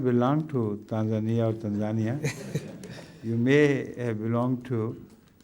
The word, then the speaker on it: Tanzania: some people say Tanzania some say Tanzania which is the correct pronunciation it is Tanzania Tanzania yes not tanzia I think I have